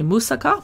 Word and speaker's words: moussaka: She does a lentil moussaka, which some people say moussaka, but I say moussaka.